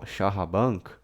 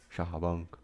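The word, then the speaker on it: char-à-banc: charaba do senr Lawrence a pronúncia de Hana para sh charaban charaban que é né um carro com carro com banco em francês Ah entendi Car né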